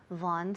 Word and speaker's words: Vaughan: bring bring okay I'm calling on behalf of Von systems foreign could you spell that for me okay could you spell that